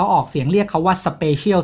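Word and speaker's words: Spatial: ของ ผลิตภัณฑ์ เขา ออก เสียง เรียก เขา ว่า Special ที่ ไป ว่า พิเศษ เนี่ย ครับ แล้ว แต่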